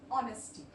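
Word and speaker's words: honesty: हो जाएगा ठीक है इसका यही रूल है की जब ह के बाद वो हो जाता है तो जो ह है वो हम सारे हम इसको प्रोनाउंस नहीं करेंगे यहां पे जैसे इसको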